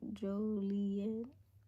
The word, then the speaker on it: Joliet: Joliet.